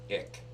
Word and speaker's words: ich: believe it or not ick ich but it's really called ich it's spelled ich it's an acronym no